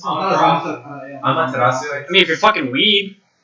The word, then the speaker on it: Amaterasu: Is that how you pronounce it? Yeah. Amaterasu.